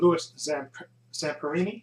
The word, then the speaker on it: Louis Zamperini: Okay, this movie was directed by Angelina Jolie, of course, and this is basically the story of Olympic hero Louis Zamperini. Yeah, that's how you pronounce his name.